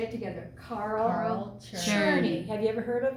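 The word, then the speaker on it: Czerny: say that check name it's called churny like you're churning butter okay so it's Carl sometimes it's spelled with a K on the Carl let's say it together Carl churny have you ever heard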